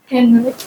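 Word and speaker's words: ಕನ್ನಡ: कन्नड़। Canada. हाँ, कन्नड़, मुझे इसकी वर्तनी K-E-N-N-A-D याद है। लेकिन इसका उच्चारण कनाडा की तरह होता है, यानी बोली जाने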